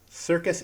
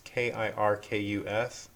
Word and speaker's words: Kirkus: Circus Indie Reviews. It's with a K, so I'm probably saying it wrong. It's Kirkus.